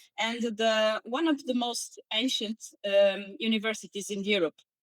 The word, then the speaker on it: Minho: So, one was is it M how would you Mo or how would you pronounce that university? Mo that's one from Portugal.